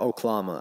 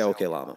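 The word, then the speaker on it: Oklama: from the desk of okay llama or oklahoma oh no that's pronounced i say okay llama for immediate release los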